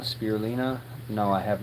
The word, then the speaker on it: spirulina: Spear bulina. Spirulina.